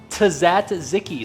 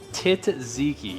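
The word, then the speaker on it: tzatziki: And lastly, the uh Tazatziki sauce, or so I've been told that's how it's pronounced.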